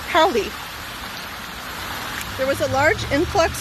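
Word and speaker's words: Paoli: look it up today it's p-a-o-l-i and it's pronounced paulie there was a large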